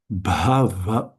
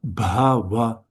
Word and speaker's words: bhava: Bhava bhava bhava. The stress, the emphasis should be on the first because they're the three short syllables here.